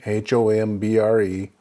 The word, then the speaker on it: hombre: Continuing with our summary, the H in English is H in Spanish, and it does not make a sound, it is silent. And the example we use is hombre, which is man, H-O-M-B-R-E, hombre.